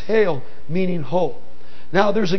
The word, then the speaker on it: hal: Holy in Old English dates back to the 11th century from H-A-L, pronounced hail, meaning whole.